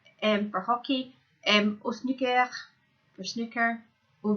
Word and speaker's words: hockey: Okay, remember they're not really pronouncing the H in French, for hockey, au snooker, for snooker, au volley, volleyball, and au golf, for golf.